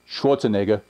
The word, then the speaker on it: Schwarzenegger: it is arnold not Schwarzenegger it is Arnold Schwarzenegger Schwarzenegger farmer he is